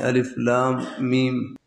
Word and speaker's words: الم: میم، الف حمزہ یعنی الف لام میم، ان کا تلفظ الگ ہے کہ ان کو الگ پڑھنا ہے، الف لام میم۔ اور